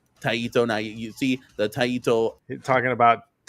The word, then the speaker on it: Taito: how how he's saying Taiito. Taito. Now you see the Taiito. is how do you say taiito? I'm not a Did you guys take Japanese in high school? It's pronounced taito.